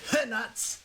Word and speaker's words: Hernuts: I am Hernuts. Yes, I do pronounce the underscore, and the H is definitely not silent.